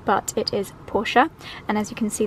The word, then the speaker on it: Porsche: triple checked with the guys and the correct pronunciation is porsche i'd always been saying porsche but it is porsche and as you can see this beautiful chocolate